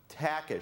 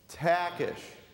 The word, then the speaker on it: Takash: My name is Takash, and it's pronounced Takash. Say that with me, Takash, right?